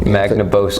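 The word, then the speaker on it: Magnabosco: Boscoe man oh sorry mag like magnet ya know na Bosco like mountain of Bosco yeah like Magna Carta buzzer it's just really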